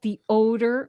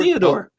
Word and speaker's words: Theodore: Where did I get the odor? McCarthy. I missed the e. You were Theodore. Theodore McCarthy. You were calling him the odor.